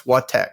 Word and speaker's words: WhaTech: So I guess Wattech, just like what and then tech.